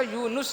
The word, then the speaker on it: یونس: تلفظ اس کا یونس ہے، نون کے اوپر پیش ہے، اور یہی نام ہے جو ہم رکھتے ہیں.